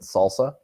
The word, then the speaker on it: SLSA: So SLSA, and you pronounce it Salsa.